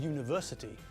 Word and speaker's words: university: With university, when we say the word, we pronounce it with a y as the first letter.